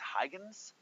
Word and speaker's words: Huygens: to say his name it's a Dutch scientist I think its Huygens but I might be saying it wrong um he he he